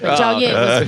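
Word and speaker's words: Jiaoying: Summers you did not pronounce it right. Jia Ying.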